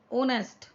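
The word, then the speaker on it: honest: ऑनेस्ट, ये एस से शुरू है, लेकिन हिंदी में कैसे जाता है, एच साइलेंट, ऑनेस्ट, ओ करके, तो इसमें हमने एन लगाया।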